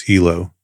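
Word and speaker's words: helo: the United States military the common sling is Hilo pronounced with the long e design characteristics a helicopter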